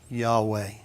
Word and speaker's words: Yahweh: we see it written we call it Yahweh but remember there's no vowels it could be ye we yo yo it could be Yahoo we don't know and so without disrespecting